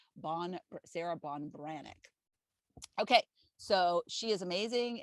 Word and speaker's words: Ban Breathnach: first line of her website but it's it's it's spelled sarah ban breath knock and that's how i've pronounced it when i've mentioned it before but it's bonn sarah bon branic okay so she is amazing and what she